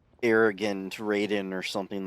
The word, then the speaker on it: Raiden: I said it wrong probably because Mortal Kombat has a character that's probably said rden but no internet and kids just said Raiden he knows a great